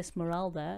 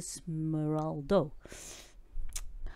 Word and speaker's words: Smeraldo: Why I say it wrong? I say Smeralda. It's a Smeraldo.